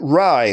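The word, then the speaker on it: Fey: Now, the final question of the day comes to us from Jason Rye, who writes, and I know it's spelled F-E-Y, but he specifically told me it's pronounced Rye.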